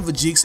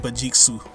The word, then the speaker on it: Vegeks: Now the name Vegeks is the westernized enunciation of saying it. If you want to say the name in its purest Japanese form, it's pronounced Vegeksu.